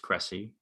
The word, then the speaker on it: Crécy: I guess it's just Crécy. That's how it's pronounced.